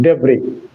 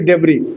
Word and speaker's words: debris: Yes, Sunil Babu has given me the meaning, dhangsastup, debris. But the pronunciation should be debris, not debris. It is a French word.